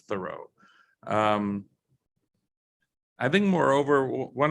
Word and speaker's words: Thoreau: of his name that i think a lot of thorovians pronounce it thorough instead of thoreau um i think moreover